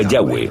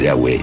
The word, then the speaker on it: Yahweh: y español son yhw pensamos que probablemente se pronunciaba yahwe o algo así pero yahwe solo aparece